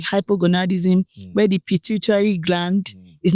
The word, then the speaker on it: pituitary: pit pit gland pituitary I never know how to pronounce that pitutary gland pituitary let's say no just say in your language pituitary you got it pituitary pituitary pituitary